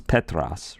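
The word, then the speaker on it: Πέτρος: They're not necessarily reflective of for example, the name Peter in Greek is Petros, right? It's different. It's close, Petros, Peter, but we've sort of turned it into what's a normal-sounding English name.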